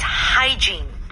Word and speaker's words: hygiene: And the pronunciation may be a little bit difficult, but it's hygiene.